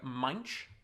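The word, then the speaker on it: Moench: character originally penned by Doug munch I believe is the correct pronunciation and the artist was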